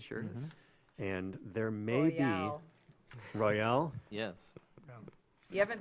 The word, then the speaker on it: Royale: so Isle Royal National Park, it has an E on the end. Yep. If you say Royale, you're like, okay, but in this case, you have to pronounce it Royale.